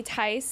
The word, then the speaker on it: Theis: I feel like we we've been running around like maniacs today, but we're so excited to have Julie Ty in the lobby with us. The H is silent.